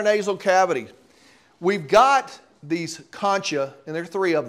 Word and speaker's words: concha: And these ridges of tissue are called concha. I actually got on Google for the pronunciation, because I don't think I've ever pronounced these right in my whole career.